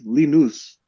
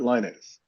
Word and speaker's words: Linus: Mm, But anyway, I found out that the correct pronunciation of his name is, I believe, something, and I'm going to butcher this, but it's Linus, not Linus.